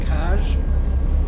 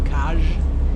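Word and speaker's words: Kaş: Today I'm going to take you on a boat tour off the coast of Kaj, spelled K-A-S with a funny kind of S in Turkey, but it's pronounced J, so Kaj.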